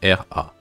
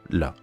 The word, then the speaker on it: ら: dit dans certaines vidéos le r se prononce elle en japonais donc c'est comme si vous disait elle a donc c'est pas parce qu a écrit ra qu'il faut dire ça ras c'est plutôt là comme d'habitude vous pouvez